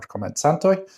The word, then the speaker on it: Komencantoj: The sound is basically a TS sound, it's ts, and that's always the case. If you've seen the titles for Esperanto por Komencantoj, that's how you pronounce the curly C.